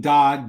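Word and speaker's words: Dad: When Dodd came to Chicago in 1929, his brother FARD was already there. We told you about the use of the name Dodd. Dodd is D-A-D.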